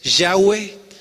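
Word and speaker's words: Yahweh: judíos pues que tiene tiene otra pronunciación un tanto diferente a lo que nosotros pronunciamos es distinto decirlo al español porque son cuatro consonantes y pronunciar cuatro consonantes en español es un poquito complicado sin embargo la más acerca a hacer cada está pronunciaciones yagüe y ellos ellos le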